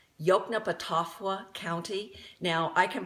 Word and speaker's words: Yoknapatawpha: He started his own town called, you'll see it in print, it's pronounced Yoknapatawpha County.